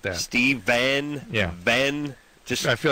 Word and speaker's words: Stephan: Stephen.